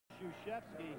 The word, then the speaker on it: Krzyzewski: I haven't figured out how it's become Krzyzewski when it starts with K-R. And you pronounce it S-H-O.